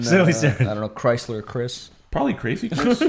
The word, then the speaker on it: Chrysler: Chrysler's the You don't pronounce the H in Chris or Chrysler. They're both CR.